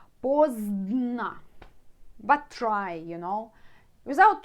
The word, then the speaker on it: поздно: Early can be rано, late поздно. So difficult to pronounce 2 letters together. Zdn. Поздно.